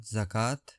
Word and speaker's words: zakah: Urdu meaning जकात। Pronunciation जका grammatical category noun definition N obligatory charity